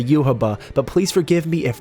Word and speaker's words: Yhwach: the quincy's name finally youhaba i know there's not much of a consensus around how his name is pronounced in the video games it seems to be pronounced youhaba so we'll go with that but my god it